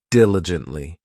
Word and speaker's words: diligently: next we have diligently this adverb has four syllables and the stress is on that first syllable diligently it just means that